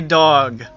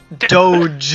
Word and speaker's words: Doge: post a secret that does not say dog Doge it is how it's pronounced it is the chief